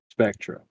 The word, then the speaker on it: Spectre: the uh the hp spectra spectra this is how you pronounce it i'm gonna send it